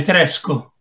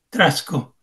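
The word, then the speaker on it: træsko: come ha scritto lì nel disco, che si legge Tresco, Trasco. Trasco.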